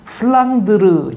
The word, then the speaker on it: 플랑드르: 프란다스는 플랑드르 지방의 일본식 발음입니다.